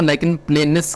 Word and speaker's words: lichen planus: दोस्तों लाइकन प्लेनस basically ना, इसको ना लाइकन प्लेनस करके प्रोनाउंसिएशन रहती है इसकी, करेक्ट प्रोनाउंसिएशन लाइकन रूबर प्लेनस एक और नाम रहता है इसका, एलपी शॉर्ट फॉर्म में कहेंगे लाइकन प्लेनस।